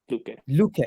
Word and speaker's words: Luque: Is that the way your name is pronounced, or Luque. Luque? Yeah. Luque. Yeah. It sounds Latin. Is it Latino? Yeah, Mexican. So yeah, Mexican. it's French, Okay. but they Mexicanized it.